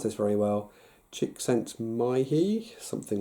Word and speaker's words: Csikszentmihalyi: States of flow, very famously popularised by the Hungarian psychologist who died about a year ago, called Mihaly, never pronounce this very well, Csikszentmihalyi, something like that I want to say.